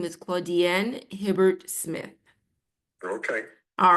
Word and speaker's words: Claudienne: And just so that you can hear it verbally, my name is Claudienne Hibbert-Smith. Okay. All right. Thank you. Good night and good Do evening. you pronounce that again? Claudienne? Claudienne, it's French. Claudienne.